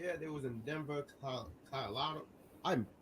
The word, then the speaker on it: Colorado: They was in Denver, Colorado. I butchered that all completely, but they were in Denver.